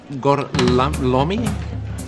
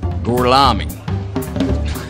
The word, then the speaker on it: Gorlami: Lo pronuncio correttamente? Sì, corretto. Gorlami? Per cortesia, me lo ripeti ancora. Gorlami.